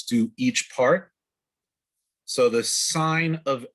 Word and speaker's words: sin: Sine, you pronounce this sine, even though it's spelled sin.